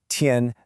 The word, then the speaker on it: 添: Pronounced tien.